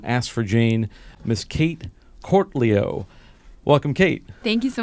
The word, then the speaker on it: Cortelyou: But it's Cortelyou is the name.